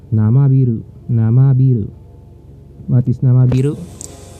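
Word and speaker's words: 生ビール: Namabiru. Namabiru. Take note I prolonged the letter I. I pronounced it in prolonged prolonged way. The I. Namabiru.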